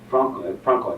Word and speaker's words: Frankl: So one of the top psychiatrists who has come forward with this theory was the psychiatrist Victor Frankl, I think it's called, Frank, F-R-A-N-K-L. Is that pronounced Frankl?